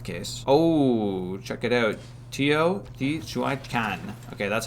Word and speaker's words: Teotihuacan: Teotihuacan. Okay, that's how you pronounce that.